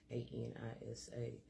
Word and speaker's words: Anisa: You need to open your lips. That's how you pronounce it. Anisa.